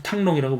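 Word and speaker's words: Thăng Long: 그런 뜻을 어 베트남 사람들 발음으로 이제 탕롱이라고 부르는데요 리왕조 베트남은 이제 리왕조 그다음에 이제 쩐왕조 어 그다음에 이제 레왕조인데 잠시요 사이에 이제 호왕조가 있습니다.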